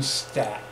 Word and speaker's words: Stapp: So that is called one stap, S-T-A-P-P. Okay. And it kind of rhymes with stop, stop quickly.